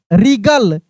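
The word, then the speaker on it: wring: आर I double G एल ई क्या पढ़ेंगे Regal W आर आई एन जी क्या पढ़ेंगे रिंग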